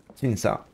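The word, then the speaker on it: Qingce: Évidemment, Q, ça se prononce Chi. Che. Le son Che est le CE se prononce Sa, donc Qingsa.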